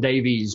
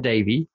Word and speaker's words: Davey: I think I might have said Liane Davies, but it's Liane Davey.